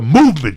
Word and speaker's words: MVMT: MVMT watches, pronounced the Movement Jack, was founded on